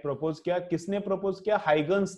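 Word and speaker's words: Huygens: तो इसका प्रोनाउंसिएशन क्या है, तुम लोग गूगल पे भी देख सकते हो क्या है प्रोनाउंसिएशन इसका, हाइगन्स, इसका प्रोनाउंसिएशन क्या है, हाइगन्स।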